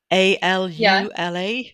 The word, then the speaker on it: AlUla: the book I have no idea how to pronounce this a l u l a which is an abbreviation oh yeah can can